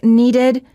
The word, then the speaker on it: needed: If the last letter of the word is spelled with a D or a T, the ED is pronounced as a separate syllable, id. Words for practice.